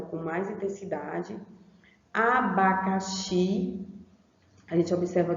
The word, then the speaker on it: abacaxi: Abacaxi, a gente observa que o xi, ó, ele também já é pronunciado com um som forte, ó, abacaxi, abaxi, certo?